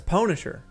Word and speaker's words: pwnisher: That's pwnisher. You know, like get pwned or get owned.